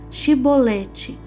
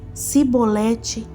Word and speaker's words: Shibolete: Se respondesse que não, diziam: "Então diga Shibolete." Se ele dissesse Sibolete, sem conseguir pronunciar corretamente a palavra, prendiam-no e matavam-no nos vales do Jordão.